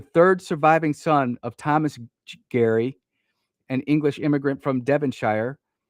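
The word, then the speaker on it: Gerry: His name is spelled ge r y but it's pronounced Gary I've been told when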